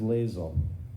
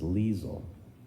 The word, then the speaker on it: Liesel: Her name is Lazel. Sounds like Diesel. Wait, I didn't say it right. Diesel. But her name is Liesel.